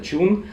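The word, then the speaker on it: chune: То есть это, в принципе, слово для обозначения песен, просто на ямайский манер оно читается чун.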